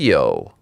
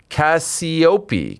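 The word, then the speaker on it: Cassioppi: THERE YOU GO AGAINST TONY CASPIO. NOPE. BUTCHERED THAT CASIOPEA CASIOPEA. THERE IT IS. CASIOPEA SOUNDS LIKE. SOUNDS LIKE AN ITALIAN NAME.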